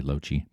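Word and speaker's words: Loche: That's how you pronounce my name, by the way, Loeche.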